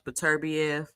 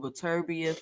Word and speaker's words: Beterbiev: So apparently, Bivol decides to drop the belt in order to be able to rematch Beterbiev.